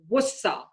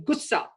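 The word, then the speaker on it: غصہ: So for instance, anger is considered wussa, wussa. But the Bollywood stars, not able to pronounce the gha sound, they say gussa, gussa. It's flat, gussa.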